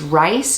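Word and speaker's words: Ryse: on this dress um it's rice not like reese it's r-y-s-e i don't know if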